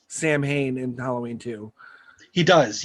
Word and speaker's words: Samhain: uh and i just recently learned it's actually pronounced samhain i've been calling it samhain for decades like an and